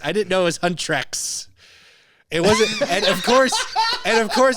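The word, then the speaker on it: HUNTR/X: 94.7 KKCK, soft plug, I will apologize for mispronouncing the name of the group for the last few months. What were you saying? Hunter X. Oh, Because it's written as Hunter X. I didn't know it was Huntrex.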